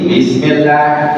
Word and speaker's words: bismillah: Nah, setiap kasrah pertangkan I. Jangan sampai ada unsur e. Bismillah. Bis apa bis? Bis. Nah, jangan sampai e jangan sampai ia keluar nafas.